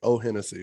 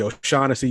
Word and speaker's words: O'Shaughnessy: Unless you have like an Irish name like O Hennessy or something like that. Right, or O Hennessy. And it's supposed to be O'Shaughnessy. You just keep pronouncing it wrong.